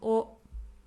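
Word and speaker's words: を: Particle o. O. This is a grammatical object marker. It marks our grammatical object. Although we write it as wo, we pronounce it as o.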